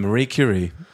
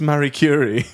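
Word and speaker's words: Marie Curie: first read through and I was like from Mar curri and they were like that was great um can we just do a check on it's pronounced Mary curri and I was mortified cuz as soon as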